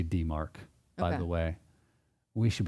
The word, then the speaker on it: DMARC: Would you pronounce this DMARC? DMARC.